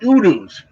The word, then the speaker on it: udu: They're originally from Nigeria, and they're called udus, and it's spelled U-D-U.